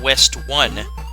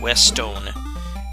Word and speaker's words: Westone: this but this was created by a company called west stone it's not west one although it looks like it hits that by the way it's spelled it's called west own and licensed to sega